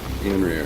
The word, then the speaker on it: Eonrir: So, how do you say your name, buddy? Eonrir? Eonrir? You had by the first time, bud. Eonrir. Okay, cool. Just making sure I don't say it wrong.